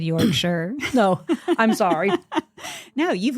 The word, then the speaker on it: Yorkshire: Yorkshire or Yorkshire? Yorkshire. Well, it depends on where you're from. Oh, well, I'm from the South. You're from the South, so it's like it's Yorkshire. It's a 3-syllable word.